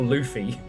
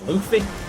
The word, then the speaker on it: Luffy: The problem is we're all going to be calling it God of War Luffy. It's pronounced it's Luff. It's Luffy. Okay.